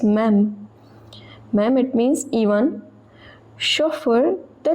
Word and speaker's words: même: Alors, so, elles peuvent devenir représentants, ou même, again don't pronounce it as meme, it is même.